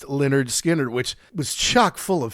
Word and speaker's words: Lynyrd Skynyrd: We also did Lynyrd Skynyrd's first album, pronounced Lynyrd Skynyrd, which was chock full of hits, and darn near also had Sweet Home Alabama on it.